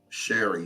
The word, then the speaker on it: Cherie: Sherry. Yeah. Sherry, I'm sorry. I don't know why I said because it's spelled because Cherie. it's spelled like Cherie. But I've never called her Cherie. I always say Sherry.